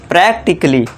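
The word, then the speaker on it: practically: फिर है प्रैक्टिकली। अब यहाँ पे दोस्तों फिर से ए के बाद डबल एल वाई है तो ये जो है ए साइलेंट हो जाएगा। तो इसे क्या पढ़ेंगे, प्रैक्टिकली।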